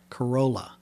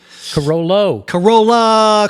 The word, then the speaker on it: Carollo: Corolla. Carollo.